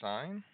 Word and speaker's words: sine: And sine is equal to, we're still going to, even though it looks like the word sin, we're still going to pronounce it sine.